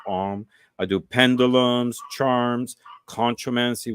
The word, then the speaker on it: Ogham: The Om, which is written like Ogham, but Mm-hmm. it's pronounced Om.